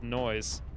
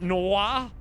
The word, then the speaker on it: noir: you missed me and it's not pronounced as noise but americans will be americans noise noir is it noir jj da noir it's